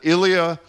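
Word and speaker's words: Ilia: This guy, I'm going to mispronounce it, Ilya Malinin, is that how you say this? No, that's correct. Ilya Malinin. That's exactly correct.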